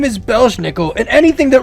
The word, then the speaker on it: Belsnickel: Belsnickel and Pell's nickel so his name is belshnickel and anything that rhymes with belushnickel nickel the name literally translates as